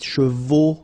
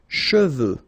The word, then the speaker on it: cheveux: Usually this one is a bit of a problem because some of the students normally pronounce it chevaux, okay? So try to keep in mind that you get E-U here. So it goes like okay, and then final X not pronounced, sorry, final X, should pronounce it the French way. Final X is not pronounced.